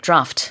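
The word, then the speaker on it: draught: My question is so like beer D R A U G H D you pronounce that draft.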